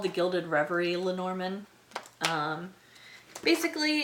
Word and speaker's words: Lenormand: Okay, and last, Lenormand. At least that's the way I pronounce it.